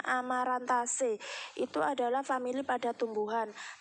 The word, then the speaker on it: Amaranthaceae: Jadi aceae itu dibaca C, Amaranthaceae. Kalau tulisannya adalah Amaranthaceae tapi bacanya Amaranthaceae.